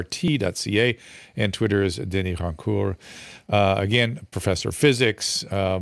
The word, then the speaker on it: Rancourt: And of course, as an ugly American, I completely butchered and anglicized his name. So, let me give it its due. Denis Rancourt.